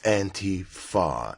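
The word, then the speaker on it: antifa: know why you say it like that it's auntie far anti-fascist not auntie fascist the pronunciation is important even when it's hard dr.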